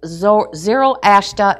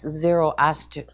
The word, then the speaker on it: Zoroaster: And so now over here, they start to worship Zoroaster and Anahita. Now, Zoroaster, if you go back, that's Zoroaster.